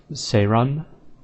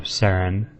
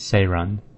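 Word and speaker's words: Seren: It's pronounced Seiron. So they pronounced an H in there, so instead of Saren, with emphasis on the R. It's Seirun. Seirun. That's a little bit odd. Not my favorite pronunciation. I like Saren better. And then this one has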